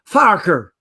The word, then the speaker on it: Farquhar: any of those ways in sky Scotland it's pronounced farker but that sounds like a fight with you